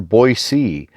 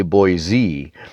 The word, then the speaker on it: Boise: 1955 currently those who grew up hereabouts generally prefer Boise outsiders often say Boise sometimes natives gets hostile if they think it's being mispronounced older folks here remember why and to them Boise sounds like a slur younger people don't always